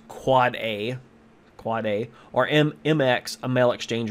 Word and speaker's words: AAAA: authoritative name server, and AAAA, an end device IPv6 address, pronounced quad A, or MX, a mail exchange record.